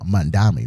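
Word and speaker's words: Mamdani: was asking them a bunch of questions about Mandami, right?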